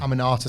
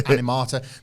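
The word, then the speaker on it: Aminata: this wasn't a bad night I can never pronounce the name this wasn't a bad night for Queen and am anata am anata thank you I was to say animata this wasn't a bad night for amata like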